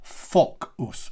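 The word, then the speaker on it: Focus: But we do want to say Fock us.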